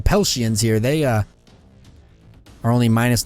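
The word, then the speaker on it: Peltians: Pell shins here they I was pronouncing that wrong and the other episodes the fake up saying palatians the pell shins here they are only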